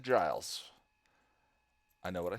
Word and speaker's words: Giles: I did watch Voyager I did not mispronounce GS and Restless uh I just gave it a weird sort of southery draw and I think it sounds like Guiles but I said Giles I know what I